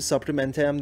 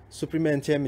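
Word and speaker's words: Suprême NTM: Aslında Fransızca okunuşu böyleymiş. Biz hani biraz İngilizce gibi Supreme NTM diye okuyoruz. Ama Supreme NTM'miş doğrusu.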